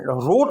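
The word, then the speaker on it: wrote: Right का मान है लिखना, रोट में W साइलेंट होगा. राइट की स्पेलिंग है WRITE, राइट, और यहाँ भी W साइलेंट होगा. लिखा जाएगा लेकिन बोला नहीं जाएगा.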